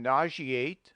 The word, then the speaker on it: nauseate: In nauseate, censure, issue, etc., the S must be pronounced as SH.